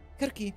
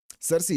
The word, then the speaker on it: Circe: S Kirki seems to be a completely different kind of witch from media. Cersei is the English pronunciation. Oh, is it? Oh, then I'm going to use that if that's the English pronunciation of it cuz it sounds so much better.